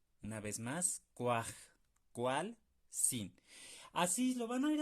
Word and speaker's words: kuajkualsin: Cuajcualzin. Ustedes, si necesitan hacerlo, pausen el video y practíquenlo. Ustedes solitos, dividiendo en sílabas. Cuaj, cual, sin.